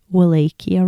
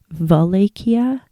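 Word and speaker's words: Wallachia: I think I've been saying Valia. I am so deeply sorry. I'm not very good at pronouncing things. I do look up things before I say them. And for some reason in my head, I thought the W was pronounced a V.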